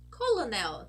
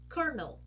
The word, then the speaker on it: colonel: might think oh it's Colonel teacher isn't that a light l but no my friends this is not a light L this is actually pronounced kernel kernel okay and that